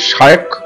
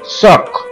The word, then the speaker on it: Shyok: Already আমাদের ডান পাশ দিয়ে শায়ক river বয়ে চলেছে, তবে এখানকার লোকেরা কিন্তু এটাকে শায়ক বলে ডাকে না, এদের একটা অদ্ভুত উচ্চারণ সক, অর্থাৎ এখানে বহু জায়গায় দেখলাম SHYOK এই বানানটা লেখা আছে, অর্থাৎ সক।